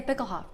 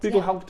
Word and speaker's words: Bickelhaupt: So for this one, here in the Bickelhaupt Arboretum, is that how it's pronounced? Yeah, Bickelhaupt. Bickelhaupt, yeah.